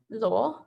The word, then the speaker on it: Luo: me how to pronounce your last name it's pronounced like law it's actually ellen lowell luo like ellie w like the law oh okay